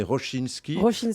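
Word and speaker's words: Rosiński: Hein, c'est Roche, on prononce en polonais Rochinski.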